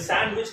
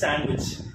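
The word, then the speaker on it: sandwich: இருக்கு சாண்ட்விச் அப்படின்னு சொல்லுவோம் இது சாண்ட்விச் கிடையாதுங்க டீ பாத்தீங்கன்னா இட் இஸ் சைலென்ட் அப்ப எப்படி யூஸ் பண்ணுவீங்க சாண்ட்விச் இட் இஸ் நாட் சாண்ட்விச் இட் இஸ் சாண்ட்விச் ஓகேங்களா குட் நெக்ஸ்ட் வேர்ட் பாத்தீங்கன்னா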